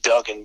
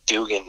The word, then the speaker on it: Duggan: It's spelled like it would be Duggan, but apparently some of us got an extra G along the way somewhere. So it's actually Duggan, strangely enough.